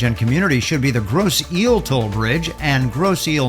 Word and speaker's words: Grosse Ile: The name of the bridge and community should be the Grosse Ile Toll Bridge and Grosse Ile, Michigan. We mispronounced that, and we apologize for the mispronunciation